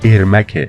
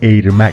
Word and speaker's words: ارمک: آلتیمت مورتال کامبت س که اونجا گوینده اسمشو به جای ارمک ایرمک تلفظ می‌کرده در واقع اسم ایرمک